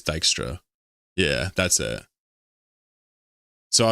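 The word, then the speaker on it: Dijkstra: I was saying Jikistra and people say it's Dystra.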